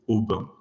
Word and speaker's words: Aubun: So to start with that second category, I very recently discovered that there's a variety called Aubin, which is spelled Aubun, which is apparently a very close cousin of Counoise.